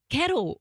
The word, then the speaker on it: Carol: No, she's Cuban, and you pronounce it Kettle.